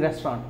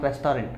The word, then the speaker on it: restaurant: lunch at a restaurant I'm seeing restaurant not rest are in right restaurant is the right pronunciation ok so here see